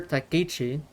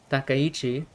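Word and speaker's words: 高市: I want to talk about this because Japan's prime minister said, let me say her name right, Minister Takichi, Takayichi, Prime Minister Takiche of Japan said right here in this statement,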